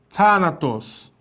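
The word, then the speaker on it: θάνατος: É um TH, né? Então tem um pouco de T, mas é mais suave. Thanatos. É um som que tem que surgir na nossa, na posição da língua, pressionando o dente, né? Assim, na parte de cima.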